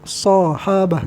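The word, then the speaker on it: صحابة: Bi fathis shadi, dengan patah shad, sahabah gitu kan.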